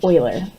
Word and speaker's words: Euler: Euler's method and yes that word is pronounced like oil not Euler not ferrisbueller this is Euler's and maybe we'll get